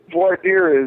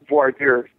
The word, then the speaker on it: voir dire: And that's called, for anyone who's kind of new to the whole jury independence movement or jury rights movement, voir dire is the process by which the judge tries